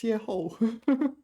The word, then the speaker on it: 邂逅: and it is pronounced 邂逅.